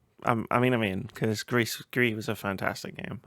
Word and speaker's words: Gris: of grisp it's called I think it's pronounced Greece or Greece uh Greece um just from the